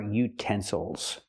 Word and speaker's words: utensil: not utensils but utensils now we have a word with three syllables we stress the second syllable utensils again the third syllable is not stressed so we cannot say ill we have to say o utensil one utensil and two